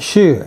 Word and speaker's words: 戍: This one is pronounced Shu, and it's a little bit different.